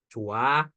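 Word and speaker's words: 좋아: 하는 모음으로 시작했죠 그래서 우리 이거 발음 조화가 아니라 어떻게 돼요 조아 혹은 쌓다 그죠 거기에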